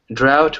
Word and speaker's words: drought: and what is a drought well it's a very long period it can be months or even years with no rain or other types of precipitation right drought rhymes without as in without rain you know so they're